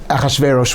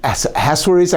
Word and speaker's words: Achashverosh: Haman is killed, but the decree still exists, and the King Achashverosh, we call him, Ahasuerus, I've heard it's pronounced also, but Achashverosh, tells Mordechai and Esther,